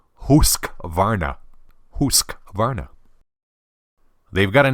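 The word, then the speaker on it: Husqvarna: the Atlantic speaks Swedish if you want to pronounce it correctly it's actually husk Varna husk Varna they've got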